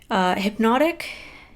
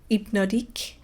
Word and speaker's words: Hypnotique: I've got the shade Hypnotique and Meteor. So Meteor and Hypnotic. Sorry, my French pronunciation is terrible. So Hypnotic is Hypnotique, actually.